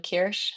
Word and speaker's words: Kiersch: It's just my name, Kirish. Um, spelled like Michael but with an A at the end and then K I E R S C H.